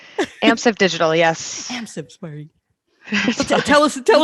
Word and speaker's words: Amsive Digital: path interactive right did i say it right amps of digital yes so tell us tell us about your